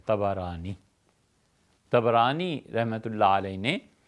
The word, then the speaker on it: طبرانی: آئی ہے طبرانی میں۔ طبرانی کا اصل تلفظ یہی ہے، طا پر بھی زبر ہے، با پر بھی زبر ہے، طبرانی۔ طبرانی رحمۃ اللہ علیہ